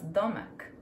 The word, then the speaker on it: domek: That's domek.